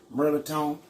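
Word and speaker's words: mirliton: melatonin it ain't even spelled that way it's pronounced merlitone and uh we're gonna make a dressing with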